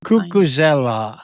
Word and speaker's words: Cucuzzella: But I also liked um I've studied Mark Cucuzzella. I can't know if I say his name right. Um he's an athlete, a runner, and he's also low carb. Cucuzzella There you go.